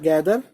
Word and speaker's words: gather: इसमें टी एच की spelling होती है, था मत बोलना, द होती है साउंड।